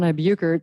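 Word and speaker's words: Buchert: We're and Buukert. That's spelled B U C H E R T.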